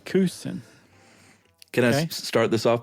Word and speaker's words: Couston: I thought it was Couston. No? If you're in France, that's how you would say it. But here in the United States, you say Couston.